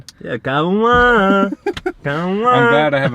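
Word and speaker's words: Kauan: I don't know if that's how you say his name, but it's spelled K-A-U-A-N. Yeah, Cauan.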